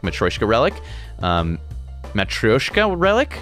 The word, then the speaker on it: matryoshka: matroshka this is funny somebody corrected me actually it's matryoshka but when you say it it's like matryoshka matroshka and so if you look this up american pronunciation approaches matroshka but not matroyshka matryoshka anyway i don't know